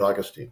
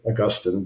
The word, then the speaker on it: Augustine: very lengthy piece on St Augustine or Augustine depending on how you like to pronounce it I'm not doing him